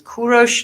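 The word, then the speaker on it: کوروش: the correct name is kurosh uh which is the name of the king of iran cyrus the great so the proper farsi pronunciation of it is kurosh not cyrus but cyrus sounds just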